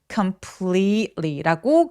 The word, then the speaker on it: completely: complete 할 때 분명히 스펠링은 e라고 되어 있잖아요. 근데 엄청 긴 장모음이에요. 우리 왜 beach 할 때랑 똑같은 모음이에요. 그래서 completely라고 굉장히 길게 치아를 많이 보여 주면서 e 하면서 소리 꼭 내 주세요.